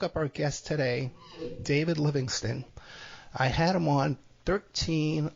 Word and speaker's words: Livingstone: Just look up David Livingstone with an E at the end, but it's pronounced Livingston.